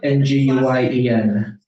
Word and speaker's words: Nguyen: Nguyen. Bethany. Remember that, Zoom verse. I've been saying that completely wrong my whole life. Most people do. Don't I worry. thought it was a win.